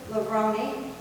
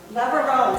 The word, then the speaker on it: Lavarone: Okay, then I'm going to turn it over to Lavroni. Did I get it right? Lavarone. See, I knew I would mess it up. I want to call it pepperoni. Because it rhymes with it.